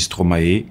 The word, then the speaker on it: Stromae: qu'on prononce trop mal moi je le prononce le stroma après les françaises qui dit stromae les anglophones et disques lucho mais franchement vous le dit comme vous voulez hein moi j'aime bien en